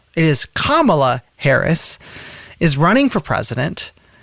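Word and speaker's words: Kamala: endorsed vice president kamla Harris for those who mispronounce that name it is kamla Harris is running for president and it is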